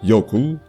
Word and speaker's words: jökull: Ainsi, le mot norrois jökull est aujourd'hui prononcé Jökull.